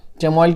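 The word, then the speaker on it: chamomile: चेमोइल could be pronounced as कैमोइल as well.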